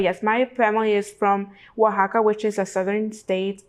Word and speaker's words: Oaxaca: So I know it can be tricky with pronouncing the word, but yes, my family is from Oaxaca, which is a southern state in Mexico, and we're known for very many different things.